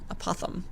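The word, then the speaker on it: apothem: And it's spelled A-P-O-T-H-E-M, apothum.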